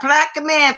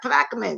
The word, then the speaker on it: Plaquemine: Yeah, Plaque Man, Fabian. Have you heard of it? Wait a minute. Let me see. Have you heard of it? Yeah, little bitty town, huh? Yeah, Plaquemine.